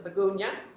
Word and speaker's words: Miegunyah: Thank you for coming tonight to the Miegunyah. I've just been told that is correct pronunciation.